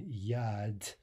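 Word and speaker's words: яд: right that final D and Yad which means poison rhymes very nicely with yacht right yacht yacht both of those endings are pronounced the same or the final portion of those words okay so anyway the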